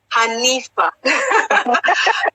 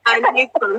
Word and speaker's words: Hanifa: So Shakiti Bobo is not Anita, it's Hanifa. Hanifa. Maybe I wasn't pronouncing it clearly. Hanifa.